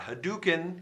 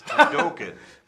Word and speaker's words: Hadoken: It's not Hadouken, it's Hadoken.